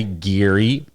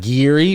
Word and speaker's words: Gerry: Bachelor is this guy, Gary. I think that's how you say his name. Maybe not like that, not Geary, but it's spelled Gerry, which is Gary, but Gary, you know, which is I don't know.